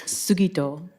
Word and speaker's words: Sugito: We'll have a pronunciation lesson first up. It's Sugito.